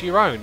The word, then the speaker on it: Jerome: Jerome is pronounced your own.